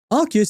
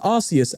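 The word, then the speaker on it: Arceus: archus AR alador what oh actually hold on archus is actually truthfully pronounced arus and you know why I know have you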